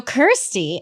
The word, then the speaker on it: Kirsty: so I'm so sorry I've been saying your name wrong I won't do it again. So Kirsty.